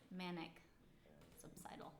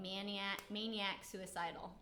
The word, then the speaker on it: Manic Subsidal: So in this case, it was manic subsidal. Wow. But they changed it because people were mispronouncing it and saying maniac suicidal.